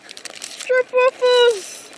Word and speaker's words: stroopwafel: Stroopwafels! Stroopwafels. Wait, what's the correct way to say it? Stroopwafel. Stroopwafel. Yeah, you gotta have the rolling R.